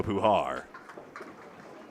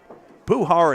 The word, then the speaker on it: Puhar: 3579 92 through7 and a group post I owe to Nico Puhar. Puhar and guar almost rhyme except I've got the empasis on the other syllable.